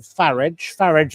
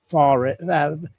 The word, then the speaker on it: Farage: lot at Mar-a-Lago with Nigel Farage as in garage, never say his name is Farage, because he isn't.